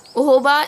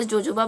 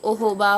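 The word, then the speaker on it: jojoba: ऑयल ओहो बा ऑयल ओहो बा इज जोजोबा in India like we pronounce it ए जोजोबा बट इट is actually ओहो बा ऑयल आलमंड ऑयल सेसमी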